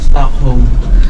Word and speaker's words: Stockholm: sa Stockholm Sweden yan stock home stock home silent silent L mga finish ano tuk